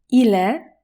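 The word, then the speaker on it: ils: w być następne słowo ile ile te trzy osoby czyta się dokładnie tak samo powtarzaj razem ze mną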